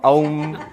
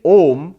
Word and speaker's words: Om: Aum. No, that's wrong. In Sanskrit grammar it is wrong. It's grammatically wrong. In Sanskrit grammar, when you put A and U together, it becomes O. So, to say Om is the correct pronunciation of Om.